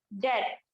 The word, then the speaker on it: debt: इसको बोलते क्या है, प्रोनाउंस क्या करते हैं, डेप्थ। बी जो है इसमें साइलेंट है, सभी में जो बी है ये हम लोग बी पढ़ रहे हैं ना, तो बी यहाँ पर साइलेंट है।